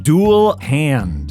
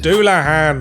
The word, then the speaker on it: Dullahan: It's pronounced ein hairyar. Say tires? It's satyrs. Okay, I think I got this one. Dual hand. Doulahan.